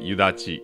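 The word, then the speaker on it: 白雨: ハガの台は白い雨と書いて湯立と読みますつまり夕立ちやに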